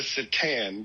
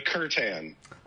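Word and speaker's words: C'tan: I was calling the star gods the satan because that's how it looks like it's pronounced to me.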